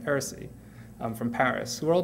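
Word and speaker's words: R&Sie(n): 09 from Madrid, Philippe Ram from Lausanne and Paris, and Aaron Saïd, it's in French it's pronounced Heresy, from Paris, who are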